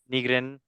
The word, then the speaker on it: Nygren: Breidablik on match day 4 with Benjamin Nygren.